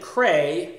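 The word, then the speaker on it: Creye: And this band, Cray, and you spell that C-R-E-Y-E, a band that hails from Sweden, of course.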